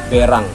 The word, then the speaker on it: berang: Jadi yang betul itu adalah berang.